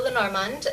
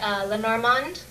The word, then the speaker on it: Lenormand: I guess, I say Lenormand, or you would say it with sort of a softer D if you were French, okay.